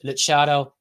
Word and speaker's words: Lutsharel: But yeah, so his name is pronounced Lutsharel Geertruida, and it might be really hard to